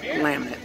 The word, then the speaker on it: Lamont: That's spelled Lamont, but it's Lamet.